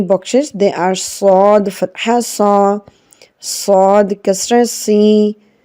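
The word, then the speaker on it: ص: Now Sad is a heavy letter. When we pronounce it, the sound should be heavy, like Sa, Sa. The mouth should be opened upwards and it makes a heavy sound.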